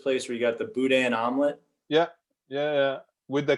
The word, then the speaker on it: boudin: pronounce it uh well we pronounce it a little bit more like cajun french i guess like boudin yeah the boudin we your